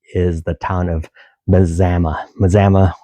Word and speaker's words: Mazama: Mazama um sounds like Alabama according to Lion at Lion's Den.